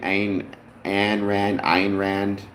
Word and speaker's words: Ayn Rand: It's Ayn Rand, right? Ayn Rand, how you pronounce it.